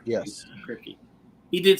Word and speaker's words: Kripke: Is that how you pronounce his name? Kripke? Yes. Kripke.